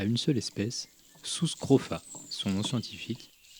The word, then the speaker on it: Sus scrofa: Aujourd'hui une vidéo un peu spéciale puisqu'elle est dédiée à une seule espèce Sus scrofa son nom scientifique. Le U se prononce ou en latin, c'est quand même plus classe.